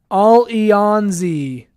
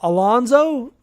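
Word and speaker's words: Allons-y: team name is pronounced all yawn Z all yawn Z French for let's go okay I did not know that I had no idea I was like all Alonzo Alonzo all ons now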